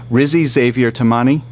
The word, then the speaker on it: Rizi Xavier Timane: tell me if I'm pronouncing your name wrong name wrong Rizzy Xavier tamani yes that's correct and the book is an